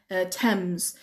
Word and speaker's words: Thames: ممکنه بخواین بگین مثلا تمز. خوبه که درست بشه، تلفظ بشه تمز.